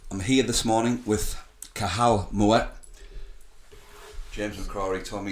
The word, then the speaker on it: Cathal: I'm here this morning with Kahal Mo. James McCroy told me yesterday I got it wrong cuz I pronounced the T and I'm like I